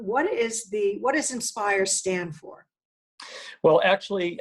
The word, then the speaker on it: IN-SPIRE: stand for well actually I guess we pronounce it in spire that's fine and I think inspires an acronym that many organizations are probably used but this one is spelled i N - spire and it kind of